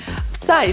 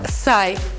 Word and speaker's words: Psy: Псай, сокращенное от психа, произносится как «сай».